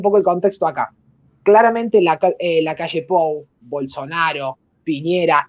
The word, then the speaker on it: Lacalle Pou: Hoy la calle Pou, porque si no algunos se nos enojan porque lo pronuncia como la Calpou, pero bueno, el presidente